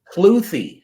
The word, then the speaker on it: Kluthe: you sir yeah so last name is cloy cloy yes sir CL yes sir okay excellent well been pronounced wrong all my life so we're good